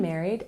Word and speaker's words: married: Number 3, you can say, I'm married and have 2 children, or I'm married and have no children. When we pronounce married, we put the stress on the first syllable.